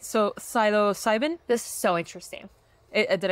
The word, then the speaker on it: psilocybin: all right so Silo cybin this is so interesting did I say it right syo yeah sybin okay so syo cybin found in magic mushrooms shows promise as a